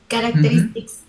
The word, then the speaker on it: characteristics: Characteristics. Yes. C and H, guys, usually is like K.